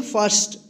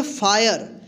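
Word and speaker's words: fire: हम समझते हैं देखिए अभी एफ आई आर आई इसको क्या पढ़ेंगे फायर इसको फेरे नहीं पढ़ेंगे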